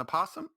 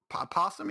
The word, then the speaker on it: opossum: think you're mixing up the o is silent the o and the p is silent it's called possum stop it stop it stop